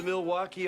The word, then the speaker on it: Milwaukee: So, do you come to Milwaukee often? Well, I'm a regular visitor here. Actually, it's pronounced Milwaukee, which is Algonquin for the good land.